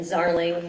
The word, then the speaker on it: Zarling: Sarah with an H and then Zarling rhymes with darling.